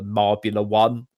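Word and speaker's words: Marbula One: You want to look for Marbula 1, it's pronounced.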